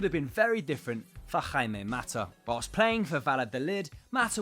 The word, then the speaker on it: Jaime Mata: Without the perseverance and self-confidence akin to his manager, things could have been very different for Jaime Mata.